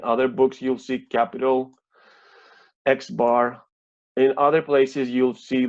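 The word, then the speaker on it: x̄: measures that we have for this variable so X bar which is how this is pronounced means the mean value of x and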